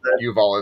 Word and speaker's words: Yuval: I know Levin is how you say Levin. Yuval, I think, is how you say his first name. Yuval is correct, yes.